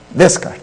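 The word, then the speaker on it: Descartes: dec é isso né descart descart mas com o s não pronuncia o ren descart que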